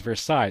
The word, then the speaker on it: Versailles: history book and I was immediately corrected it's verside it's French okay since then I've pronouncing it Versa but then again I wasn't